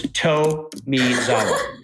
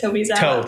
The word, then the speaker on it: Tomizawa: I said your name wrong, and it's Tomizawa. It is Tomizawa. The toe, I would have never gotten it right if you didn't do the toe.